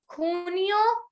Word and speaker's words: Junio: That is Junio, Julio. Everyone on their mic can speak. Junio, Julio. Julio. So J in Spanish is pronounced as K, K-H.